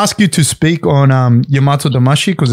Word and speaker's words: Yamato-damashii: Can I ask you to speak on Yamato-damashii? Because it's a, am I saying that right? Am I messing that up? Yamato-damashii? No, you're saying it good. That's good. That's exactly how it's said.